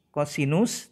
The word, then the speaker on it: kosinus: Kosinus tulisannya, kemudian kita tuliskan disingkat dengan cos. Membacanya kosinus.